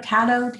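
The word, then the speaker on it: Taddeo: Um, Oh, Tato, Tato, yes, and yeah, I she would say wrote, Tato.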